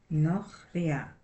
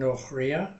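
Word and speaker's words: נכריה: Nochria. Mm-hmm. And it's the accent in the middle.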